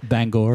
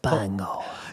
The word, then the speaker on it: Bangor: Would you pronounce Banger for me there, Dan? Bangor. I love that. Bangor.